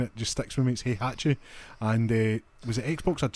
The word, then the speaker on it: Heihachi: think it was Hi, I was going to say Hayahichi, which was my terrible Tekken pronunciation back in the day and it just sticks with me. He hatche and was it Xbox had spawn is that?